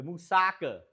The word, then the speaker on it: Moussaka: The musaka. That's it. Thank you for the pronunciation check.